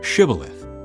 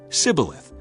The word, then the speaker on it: shibboleth: said no I'm not they would tell him to say shibboleth if he was from Ephraim he would say sibileth because people from Ephraim cannot pronounce the word correctly then they would take